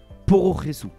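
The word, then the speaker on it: プロレス: Au Japon, le terme Pro Wrestling, du moins son abréviation Pro Wrestle, se prononce Pororesu.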